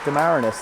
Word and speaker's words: Demarinis: Demarinis and Bruno, and yes, Demarinis, the correct pronunciation for Brianna, 62.